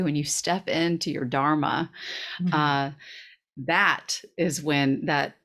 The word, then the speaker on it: dharma: their own dharma by the way it's not pronounced as dharma it's dharma and one of the one of the things